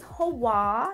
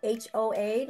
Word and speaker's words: Hoa: Well, my name is Hoa. It's spelled H-O-A, like Homeowners Association, but add a W-N, Hoa, like Hawaii without the E.